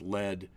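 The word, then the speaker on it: lede: Add some, I think this is actually pronounced lead, to some copy.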